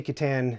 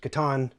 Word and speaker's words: Catan: an extremely popular game i say kitan it's correctly pronounced katan but as a child